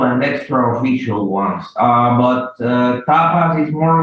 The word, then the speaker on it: Tapas: This Tapas, is that how you pronounce the website? Tapas, yeah.